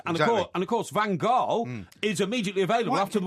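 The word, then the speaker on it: van Gaal: else seems to be call I call him van G all right okay well you're entitled to call him whatever you like but the correct pronunciation is vanal he the do Man Steve call Louis vanal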